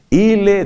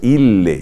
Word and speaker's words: ille: Ille dixit, claro, porque es ille, ille, doble L. No vayas a decir ille dixit.